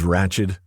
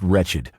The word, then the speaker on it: Ratched: Ratched?" I asked as I opened the other bottle. "It's pronounced wretched. Becky Wretched."